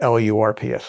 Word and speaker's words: LRRP: But we just pronounce it LURPS, LRRPs.